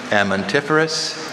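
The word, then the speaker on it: amentiferous: Can you please repeat the alternate pronunciations? Amantiferous, amantiferous.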